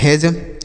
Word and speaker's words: hedge: अगला HEDGE तो इसे हम पढ़ते हैं हेज। क्या पढ़ते हैं? हेज पढ़ते हैं। समझ में आ रहा है? तो यहाँ पर डी साइलेंट है तो इसे हेज पढ़ेंगे।